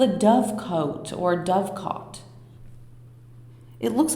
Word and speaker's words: dovecote: It looks like it's I don't have a definitive answer if it's dovecote or dovecot, but we're gonna say dovecot because that's how it's spelled most of the time.